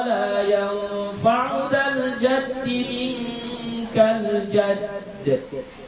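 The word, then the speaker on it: جدّ: Cara baca jadd itu qalqalah akbar. Ya, jadi jangan minkal jadd. Salah. Kenapa? Karena dalnya di situ ada tasydid, ada tasydidnya. Jadi wala yanfa'u dzal jaddi minkal jadd. Ditahan sedikit.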